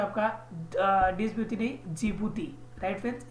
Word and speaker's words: जिबूती: है आपका द्वीपवती नहीं, जिबूती। Right friends, जिबूती। Right friends, D silent है वहां पे।